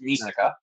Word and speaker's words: Misaka: I'm mispronouncing that, but I don't give a shit anymore. No, you're right. It's Misaka.